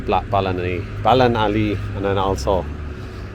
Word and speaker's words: Ballinalee: So and there is the blacksmith of Balan Ali or Bali. Sorry, I was saying the name wrong. Blacksmith of Balani.